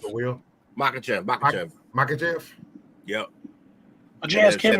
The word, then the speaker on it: Makhachev: Makhachev.